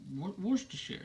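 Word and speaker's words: Worcestershire: Tire W wer werer say it like a Brit werer sauce uh and uh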